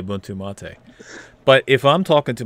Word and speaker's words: MATE: no, I mean mate Yep. is not ridiculous. It's 2 syllables.